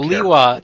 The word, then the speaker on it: Lewa: Yeah, because he got a name pronunciation change. He is Lewa now.